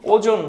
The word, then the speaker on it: ওজোন: এখান থেকে jet plane চলে, আর এখানে ওজোন লেয়ার থাকে, OZON, ওজোন লেয়ার। এটার উচ্চারণ কিন্তু ওজন না, এর উচ্চারণ হচ্ছে ওজোন, একটু গাঢ় করে বলতে হবে জেড যেহেতু।